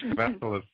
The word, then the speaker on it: Kavassilas: Yeah, you got it right the second time, Kavassilas.